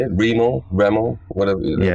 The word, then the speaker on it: Remo: Remo, whatever. Yeah, Remo.